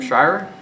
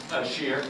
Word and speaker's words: Shear: With that, we'll call up to the podium Mr. Shire. Am I pronouncing that right? Shear. Shear. Shear.